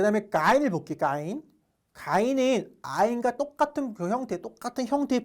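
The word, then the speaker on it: غين: 가인은 이제 아이가 똑같은데 그 가발을 바꾸면 돼요. 가인.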